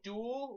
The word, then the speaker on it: duol: l yes L Duo it's pronounced like duel like yeah duel du